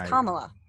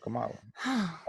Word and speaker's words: Kamala: her name yeah because i've been hearing it pronounced kamala the whole time yes no it's kamala uh i just i thought it was come out okay but so kamala um there's a video